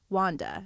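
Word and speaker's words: Juanda: this makes it in my name is wanda and it's spelt really pretty j-u-a-n-d-a whoa i've never so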